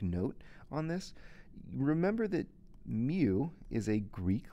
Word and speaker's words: mu: on this remember that mu is a greek letter it's pronounced mu kind of like the pokemon and it is the